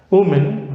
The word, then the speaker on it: women: pronunciation here in particular women women the first bubble o in women does not change in terms of spelling but in pronunciation it does change the plural form of